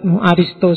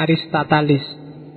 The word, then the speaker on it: Aristoteles: cucu muridnya sookrates Aristoteles bacanya Aristoteles ya bukan Aristoteles ya sok-sok diwaco Aristoteles kalau dalam bahasa Arab Aristo saja sebenarnya atau ada yang nulisnya aristatalis ya monggolah S penting maksudnya